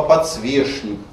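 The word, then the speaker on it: подсвечник: А слова типа подсвешник, порядочный, сохранять в них шн - это хороший тон.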